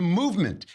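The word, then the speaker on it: MVMT: want to go to movement which is spelled of course MV MT because how else would you spell movement where are all those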